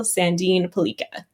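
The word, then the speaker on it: Sandin Pellikka: Tell us about the elite prospects award winner Axel Sandine Pelika. Great pronunciation there.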